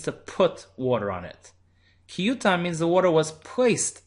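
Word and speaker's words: כי יותן: Vikarinan, however, when we read in the Torah, we pronounce it not ki yitain, but ki yutan.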